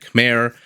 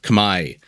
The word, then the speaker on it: Khmer: Vivi spawning in the east as the red Khmer or as it's actually pronounced Kamai let's take a look at the civilizations while